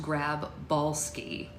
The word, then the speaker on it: Grabowski: Christen another supporting character Tom Grabowski which could pronounce could be pronounced grab balski we were just making